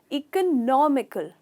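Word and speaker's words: economical: यहाँ पे हमने इकोनॉमी कहा है, पर यहाँ का प्रोनाउंसिएशन थोड़ा अलग है। इसका सही प्रोनाउंसिएशन है इकोनॉमिकल।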